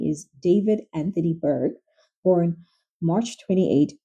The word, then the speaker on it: d4vd: He is professionally known as D4 VD, pronounced David, which looks simple until you